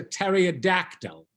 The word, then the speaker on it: pterodactyl: you know the answer because the P is silent that's right only I tell it as a pterodactyl oh why can't you